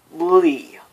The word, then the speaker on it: Lea: in Birth by Sleep, which is Lee. L-E-A, not L-E-E. L-E-A is how it's pronounced, at least most of the time in Japan, Japanese culture.